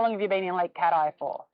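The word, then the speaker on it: Lake Cathie: a tourist no local Lake cat ey local Lake catti which is often pronounced like Kathy don't say like Kathy to the locals that's how we know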